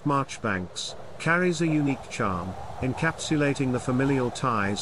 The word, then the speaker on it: Marjoribanks: transforming into Marjorie Banks the name pronounced marchbanks carries a unique charm